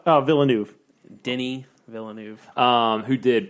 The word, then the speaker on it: Villeneuve: It's directed by Denis Villeneuve. God, I'm so bad at pronouncing names. Villeneuve Denis Villeneuve Um who did Blade Runner 2049, which was my favorite movie of that year.